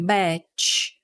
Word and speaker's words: batch: E aqui, a palavra batch, ela termina com CH. Então, a pronúncia, a gente precisa fazer biquinho, batch, batch.